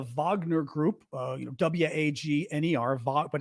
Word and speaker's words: Wagner: they're called the Wagner group uh you know w-a-g-n-e-r Vaught but it's pronounced Wagner in Russia and um they have